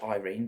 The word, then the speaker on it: Yrene: I know it's pronounced Irene, but that's not how I pronounced it.